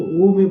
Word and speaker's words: ओम: की मात्रा खोल ओम जब घ का उच्चारण करेंगे तो आपका ओठ खुला रहेगा। लेकिन जब आखरी में घम का उच्चारण करेंगे तो ओठ बंद हो जाएंगे। घ ओम ओम ओम ओम